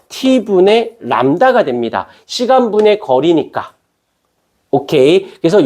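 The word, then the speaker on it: λ: 람다라고 읽어요.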